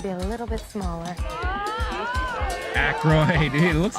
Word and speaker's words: Aykroyd: How the fuck do you pronounce this? Ackroyd? Is it Oh, is that supposed to be Paul Schaefer? Yeah, you're right. They should be a little bit smaller. Aykroyd.